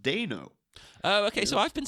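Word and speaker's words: Dano: found out recently his name is paul it's pronounced deno oh okay so i've been saying it right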